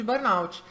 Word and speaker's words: burnout: falando sobre síndrome de burnout. Inclusive, para quem ficar na dúvida, a pronúncia é essa, tá?